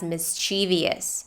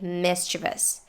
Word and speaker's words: mischievous: many native speakers say it as mischievous when the correct way is to say mischievous but some people will